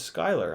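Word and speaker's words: Schuyler: you man Jake Schuler says it's pronounced Scott really seh uy l er is Skyler I'll be damned I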